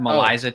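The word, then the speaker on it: MELISA: He's probably going to want to know what's that Maliza test. Yeah. M E L I SA. It's it's almost like Melissa.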